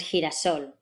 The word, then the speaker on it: girasol: down in your throat, then you get what looks like a lowercase x. As in gelatina and girasol.